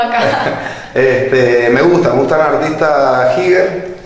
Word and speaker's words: Giger: Me gusta el artista Giger, en realidad es Giger, se pronuncia, suizo, es un pintor suizo, me encanta.